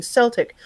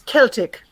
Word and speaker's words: Celtic: uh 1900s and whatnot saying celtic was no you say celtic and um and here's